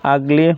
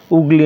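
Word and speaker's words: ugly: হবে আন্ডু হবে উন্ডু বা উমব্রেলা নয় কিন্তু আগলি বা আগলি হবে দিস ইজ রাইট উগলি নয় তাহলে এখানে আমরা দেখব সেম এজ আঙ্কেল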